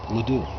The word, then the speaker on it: LeDoux: her name plate Marguerite LeDoux as I SAT there trying to figure out how to pronounce her name miss Peterson said Marguerite LeDoux and she straightened up in her seat she pronounced it ledoux it says here you're